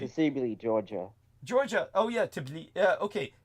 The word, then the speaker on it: Tbilisi: Oh yeah, Tbilisi. Okay, pronounce that again.